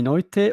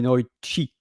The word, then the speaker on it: noite: An example, in Portugal, we say boa noite, and in Brazil, we can say both boa noite or boa noite. And it's the same spelling, Noite.